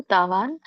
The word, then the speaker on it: ತಾವಾನ್: ತೋ ಮತ್ತೆ ಕೆ ಎಳಿಬೇಕು ತಾವಾನ್ ನ ವ್ಯಂಜನ ಇರುದರಿಂದ ಅದನ್ನ ಅರ್ಥ ಹೇಳಬೇಕು ತಾವಾನ್ ಸರ್ವೇಶು ವೇದೇಶು ಬ್ರಾಹ್ಮಣಸ್ಯ ವಿಜಾನತಹ